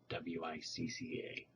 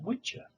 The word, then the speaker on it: Wicca: When you consider that the Saxon CC was pronounced TCH, it becomes easier to